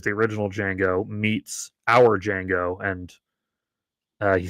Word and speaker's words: Django: original Django, meets our Django and uh he says, you know, the D is silent and Franco says, I know it's because he's also Django.